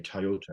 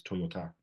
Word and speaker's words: Toyota: say Toyota as the car, but it's Toyota.